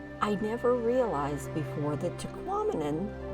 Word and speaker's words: Tahquamenon: never realized before that Tahquamenon rhymes with phenomenon so there you go there's your one little fun fact um tahquamen and state Falls or Tahquamenon Falls State Park is